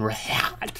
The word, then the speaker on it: Rhett: Link can't pronounce Rhett's name. Hey, Rhett, let's... Hold on a second. What? Hey, Rhett, we need to clean up this mess because it stinks in here, Rhett. The H is silent.